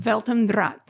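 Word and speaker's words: Welt am Draht: Can you, what's the German pronunciation? Weltendraht.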